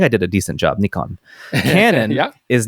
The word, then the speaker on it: Nikon: not to get angry Nikon and Canon are Japanese names and should be pronounced as the Japanese do Nikon is something close to Nikon where the apostrophe indicates a very slight pause and the co is slightly nasalized I think I did